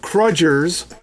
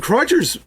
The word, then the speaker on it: Crudgers: So that's where the Crudgers, which is how they say it in orc speak, the Crudgers, speaking of which, they play a huge role in orc society.